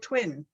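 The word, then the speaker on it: Touine: game you you had but it's actually called twin yeah it's called twin yeah just really do i haven't yet yeah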